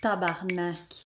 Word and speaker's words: tabernacle: Ça s'écrit tabernacle, mais ça se prononce tabarnak.